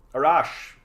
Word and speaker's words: Arash: Manitoba so I'm trying it's pronounced a rash a rash I'm from Iran very